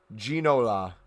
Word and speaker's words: Ginola: so anything you pick up is an investment ginola ginola okay thank you you you'd be surprised